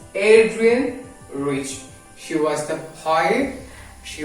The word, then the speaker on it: Adrienne Rich: How you pronounce? It's Adrienne Rich.